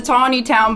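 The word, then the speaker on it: Taneytown: to you it's like if you go north up to Tony town but it's spelled like Tanny Town it is tany town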